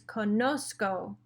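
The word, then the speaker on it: conozco: before the c and how you pronounce that is konosko if you didn't have the z it would just be konoko and that doesn't sound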